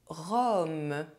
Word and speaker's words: rhum: The letter U is pronounced O when followed by M at the end of a word. In this case, UM is not a nasal vowel. Du rhum.